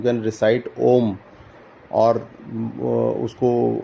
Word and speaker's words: ओम: इफ यू can recite ओम और उसको ओम को भी कहने के तरीके हैं आ उ और अम उसमें तीन अक्षर आते हैं उसको अगर हम